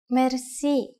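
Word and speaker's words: мерси: which word that is Mery Mery mer C is a long word from French but it is pronounced with a typical Bulgarian hard r r it is used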